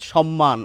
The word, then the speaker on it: সম্মান: সম্মান ছ কিন্তু প্রমিত বাংলা যেটিকে আমরা কলকাতার উচ্চারণ বলি সেখানে কিন্তু এই দন্তস এর উচ্চারণ তালব্য স এর মত হবে।